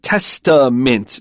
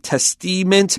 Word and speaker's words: testament: It's an A, not a short I sound. Now, we don't pronounce it exactly like an A, like an A or an A. It becomes a reduced vowel, not E, it's So testaments.